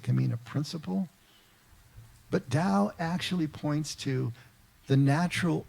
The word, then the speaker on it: Tao: Dao itself which is spelled t-a-o but pronounced Dao means the way and